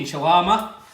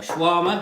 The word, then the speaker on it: shawarma: so there we are chicken shawarma or shwarma however you want to pronounce it it's a classic from